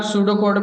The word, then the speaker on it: pseudocode: दूसरा, सूडो कोड पे आइए आप। पेज नंबर सूडो कोड पे देखिए। अगर ये पी है, पी एस है ना, ये पी साइलेंट रहेगा इसमें, ये सूडो कोड पढ़ा जाएगा इसमें।